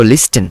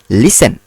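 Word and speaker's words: listen: আচ্ছা, এরপরে দেখো লিসেন অর্থ হচ্ছে, এটা দেখো অনেকেই এটা উচ্চারণ করো লিস্টেন, আসলে কিন্তু উচ্চারণটা লিস্টেন হবে না, এটা উচ্চারণ হবে লিসেন।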